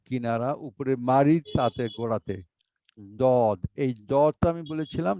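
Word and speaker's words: ض: হয় উনি ওভাবে বলেন আপনি জিহ্বার গোড়া উপরের তালুর ডান পাশের মাড়িতে লাগিয়ে দাঁতে লাগিয়ে অথবা বাম পাশে লাগিয়ে উচ্চারণ করব আমি ডান পাশে লাগিয়ে পড়ি দদ দদ আচ্ছা হ্যাঁ জি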